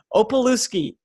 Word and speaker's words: Pawlowski: to be here and my last name is pronounced Pawlowski oppa loose key awesome I got it